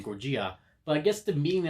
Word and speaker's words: Gojira: That's how you say it in Japan, Gojira.